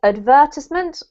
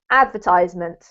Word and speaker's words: advertisement: about the word advertisement you can either say advertisement or advertisement so it's optional that one i tend